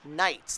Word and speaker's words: knights: these are the tandem Knights that's that's right knights with a K here on this one yeah it's a silent k all right I'm good with the silent k yeah and uh three